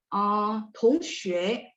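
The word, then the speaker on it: 同学: Tongxue, T baca TH, Tongxue. Sampai sini oke?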